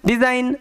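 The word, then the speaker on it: design: ডি ই একত্রে ডি এস এর উচ্চারণটা এখানে কি হবে যেহেতু দুটো ভাওয়েলের মাঝখানে এস আছে ওই কারণে এস এর যে উচ্চারণ সেটা জ এর মত হবে তাহলে ডি এস এর জন্য জ ডিজ তার সাথে আই জি এন আইন ডিজ আইন ডিজাইন একই রকম ভাবে আর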